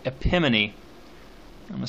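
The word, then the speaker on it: epimone: This is a similar device, and it's called epimony. I'm going to spell that for you.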